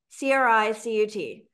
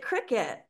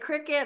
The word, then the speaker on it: Cricut: So I kept hearing about this, or I kept seeing this logo for this brand name, Cricut, C-R-I-C-U-T. So that's how I pronounce it, Cricut.